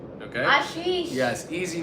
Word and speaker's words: Ashish: India my grandma named me my name is Ashish okay Ashish yes easy name common in India but no one can pronounce it in us and they always thought